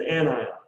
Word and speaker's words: anion: special name an anion no it's an anion anion a-n-i-o-n anion or again i don't know why they named that and why we pronounced that way but i feel like it should be pronounced anion but it's not it is an anion does anyone remember what